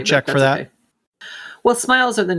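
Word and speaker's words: smial: Well, smiles are the names of the regions.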